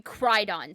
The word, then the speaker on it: Crydon: Lord Carthus, Duke of however that is going to be pronounced. It'll be Crydon, C-R-Y-D-O-N.